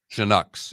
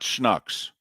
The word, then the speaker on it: Chinooks: Like OO is how it's pronounced, just so you know. Oh, Chinooks? Chinooks is how it's pronounced. So not Schnucks.